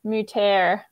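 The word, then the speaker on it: Moutere: kettle for us is moote mouter let me find that again um it's spelled m-o-u-t-e-r-e mooter um cascade and tetra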